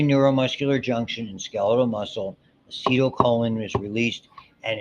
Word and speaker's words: acetylcholine: for our purposes now, you'll hear it pronounced differently. I learned acetylcholine, that ACH, it's a combination of two things. Acetyl, which comes from acetic acid, which by the way is vinegar, okay? And choline, which is a chemical that's used a lot biologically, okay?